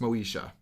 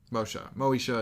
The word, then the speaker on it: Moesha: And then I think it's pronounced Moesha. Moesha is probably right.